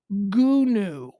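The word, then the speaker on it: Goonew: okay first of all i am pronouncing it right because it's g-o-o-n-e-w one word g-o-o-n-e-w gunu gu okay gunu is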